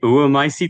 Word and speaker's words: oömycetes: Is that how we pronounce it? Is that the right? So I say oomycetes because it's the tree egg fungus, oomycete, which